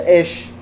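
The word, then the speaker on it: אש: La última se pronuncia Esh, que es fuego, por eso horno de fuego.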